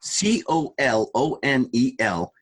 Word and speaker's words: colonel: Uh can someone explain to my 9-year-old self how c o l o n e l is pronounced kernel? There's no r in there.